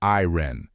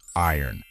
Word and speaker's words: iron: a moment to think I know that a lot of non native speakers pronounce it as iren and I am not surprised why it seems obvious however that's not correct the right pronunciation of this word should be Iron it's as if the letters r and O changed places so remember that Tony